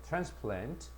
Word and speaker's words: transplant: 여기 보면 transplant 분명히 선이 동사는 강세의 뒤에 있고 명사는 강세가 앞에 있다라고 했죠. transplant.